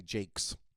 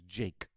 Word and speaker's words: Jake: there would call me jakes and i would say my name is jake and they would be like yes jakes and i would be like no just jake no s just jake and they would be